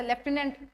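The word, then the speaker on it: lieutenant: ल्यूटेनेंट आएगा, ये LIEU आना था। मैंने, हाँ, स्पेलिंग में मैंने मिस्टेक कर दी, स्पेलिंग में मैंने मिस्टेक कर देती है तो ये लेफ्टिनेंट, पर इसको ल्यूटेनेंट करके हमने याद कर रखा था स्पेलिंग में, क्योंकि लेफ्टिनेंट में तो आता ही कुछ और है। जैसे कर्नल है, होता कॉलोनल है।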